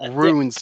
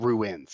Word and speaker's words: runes: writes it on like I think mispronounced runes not ruins rues like marking symbols was hearing ruins initially